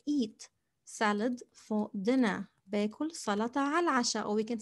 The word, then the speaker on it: سلطة: سلطة, it's quite similar to English almost. سلطة with the emphatic ط.